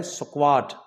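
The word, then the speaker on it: squad: शब्द होता है ना एस क्यू यू एडी इसका जो उच्चारण होता है इसको हमने ने बोलना है स्क्वाड।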